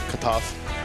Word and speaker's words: Kotoff: So, say it like as if you want to say Molotov, but say Molotov. Molotov.